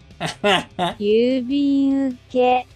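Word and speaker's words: 郵便受け: Юбинуке. Вот это у почти не слышно, такая очень короткая.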